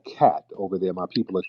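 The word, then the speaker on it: khat: i want everybody to the drug k-h-a-t all right or something it's pronounced cat it's a drug over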